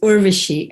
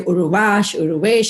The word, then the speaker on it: Urvashi: So they couldn't really pronounce it. They would say Uruvesh, and I hated it because Urvesh is a boy's name.